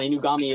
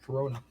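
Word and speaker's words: Inugami: Not a nice pronunciation. I mean, he's not wrong. Inami is the way you say her name. He said Corona.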